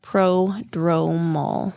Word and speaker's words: prodromal: How do you say that? Is it pre-dromal? Prodromal. Dromal. DROMAL? Prodromal. Interesting.